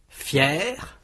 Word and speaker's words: fier: Fier. Fier. Premier. Première. Blanc. Blanche, frais. Fraîche. Amusant. Amusante, suivant. Suivante tombant. tombante idiot idiote. Notez que le r de fier au masculin est prononcé et pour maline on trouve aussi maligne.